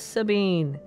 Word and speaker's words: Sabine: pronounce it German what oh it is Sabine I have been pronouncing it correctly yeah you can actually